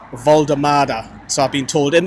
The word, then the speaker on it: Woltemade: can probably tell by the way I've been pronouncing his name that it's Voldemada. So, I've been told in the comments, I've been told on social media that it's Nick Voldemada.